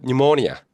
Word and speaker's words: pneumonia: I have pneumonia. I have pneumonia. pneumonia. I P는 have pneumonia. 그 P는 그 묵음이고요.